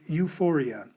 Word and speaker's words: euphoria: of letters words like euphoria and euthanasia when we bring these words into english we write both letters but we only pronounce the you the same rule applies